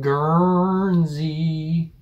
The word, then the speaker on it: Guernsey: taking a look into another british isle called guernsey that's how you pronounce it yeah when you pronounce it anyway